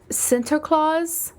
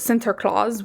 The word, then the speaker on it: Sinterklaas: It was Sinterklaas, which sounds exactly the same, but I swear is spelled differently.